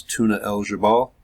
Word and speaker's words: Tuna el-Gebel: that was worth noting this is tuna eligible that is how we pronouncing it and it's located all